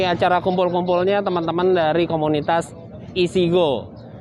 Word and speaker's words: IECGO: Iya, ini kita kebetulan lagi acara kumpul-kumpulnya teman-teman dari komunitas Isigo. IECGO, tapi kita bacanya Isigo gitu.